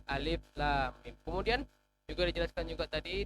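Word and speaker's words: الم: Bukan dibaca alama, bukan alam ro, tapi alif lam mim.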